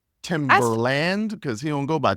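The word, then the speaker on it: Timbaland: name except for the Land part yeah it's timber land it's t Google it it's t i m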